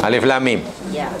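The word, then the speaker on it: الم: Huruf dibaca dengan namanya, bukan dengan bunyinya. Sebab kalau dibaca dengan, contohlah, ini sedikit tentang ilmu tafsir ya. Katalah ini, macam mana kita baca? Macam mana bacanya? Alif Lam Mim. Boleh jadi Alif Lam Mim, boleh jadi Alam.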